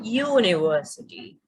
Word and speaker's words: university: Number 7 is a university, because even though university starts with the letter U, the first sound of the word is, it's not a vowel sound. We don't say university, we say university. So that first sound is a y sound, which is a consonant sound.